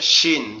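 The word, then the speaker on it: ش: তো শিন অক্ষরটা কিভাবে উচ্চারণ করতে হবে? শিন অক্ষরটা উচ্চারণ করার জন্য আমাদের জিহ্বার মধ্যখান উপরের তালুর সঙ্গে লাগবে, লেগে উচ্চারিত হবে শিন শিন শিন।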